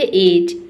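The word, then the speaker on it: edge: देखिए जो D letter है इसका जो साउंड होता है वो ड होता है। किसी भी वर्ड में अगर डी लेटर रहता है तो इसको हम ड पढ़ते हैं। लेकिन आप देखेंगे कि इनमें से किसी भी प्रोनंसिएशन में आपको ड का साउंड नहीं दिखेगा।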